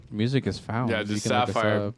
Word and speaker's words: TSAFFIRE: Yeah, just Sapphire. Go find music, Sapphire, guys. T is silent.